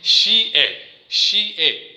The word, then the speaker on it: xie: फिर अगर इसके साथ हम ई को ऐड कर ले, XIE, इसको अगर हम ई को एक XI के साथ ऐड कर दे यानी जमा कर दे, तो इसके साथ हमारा दूसरा एक लफ्ज़ आता है शी ए यानी शी ए, और इसको हम प्रोनाउंस करेंगे शी ए उर्दू में। जिस तरह हम चाइनीज़ ज़ुबान में हम उसको शी ए प्रोनाउंस करते हैं।